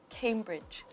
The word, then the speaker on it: Cambridge: is quite difficult because it looks like a but um came came then we have a difficult consonant combination over here right and and over here yeah right all together Cambridge Cambridge Cambridge Cambridge right